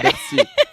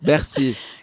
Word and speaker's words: Bercy: Bercy. Repeat after me. Bercy. Like merci. No, Bercy. Yeah, it's like merci.